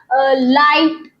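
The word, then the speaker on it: light: Sentences में जी एच जो है वो हमेशा साइलेंट होता है। जैसे कि लाइट नाइट फाइट राइट इन सभी में जी जो है वो प्रोनाउंस नहीं किया गया है।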